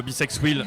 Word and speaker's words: Bisex Wheel: Et 24-26 qui présente tout le temps son dos Bisex Wheel. J'adore ce derby name, soit dit en passant. Ça s'écrit B comme l'abeille, sex, Comme le SEX, et wheel comme la roue.